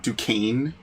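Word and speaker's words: Duquesne: Fort Dukane, which is not at all how it's spelled at all.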